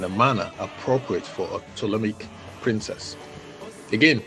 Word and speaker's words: Ptolemaic: She was raised and highly educated in Alexandria in a manner appropriate for a Ptolemaic princess. Again, Ptolemaic is spelled P-T-O-L-E-M-A-I-C, so the P is silent.